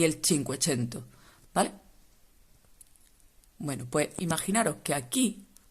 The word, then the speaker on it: cinquecento: el 480 y el cinquecento se escribe así y se dice así no hay otra manera